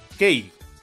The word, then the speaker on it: Kae: la serie femenina y de nombre Kei, aunque se escribe Kae.